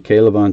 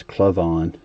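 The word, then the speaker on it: K'Lavon: of Henry Ruggs, and Kalavon Chasen, who I was mispronouncing as Clavon, like an uneducated person until recently.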